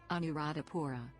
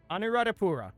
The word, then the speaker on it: Anuradhapura: How to pronounce Anuradhapura. Okay, I found a YouTube video. Let's see what we've got. Anuradhapura. Anuradhapura.